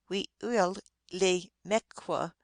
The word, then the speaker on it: Weewillaumiq: This mysterious being is called Weewillaumiq in Penobscot. The correct pronunciation is very early Weewillaumequa for both Penobscot and Passamaquoddy, but this would be